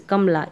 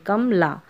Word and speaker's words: कमला: फिर है कमला अब इस कमला के उच्चारण में हमको ध्यान देना है जैसे कमला कम अब वहीं इस के टुकडे करेंगे हम कम कि कमला इस तरह से कमला ऐसे बोला जा रहे गमला ऐसे नहीं बोल रहे हम कमला